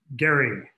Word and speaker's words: Gerry: with Randolph and Mason and Gerry, as I've learned pedantically to pronounce it, and that it was